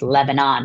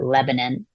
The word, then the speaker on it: Lebanon: um often, you know, pronounced Lebanon, but we pronounce it Lebanon.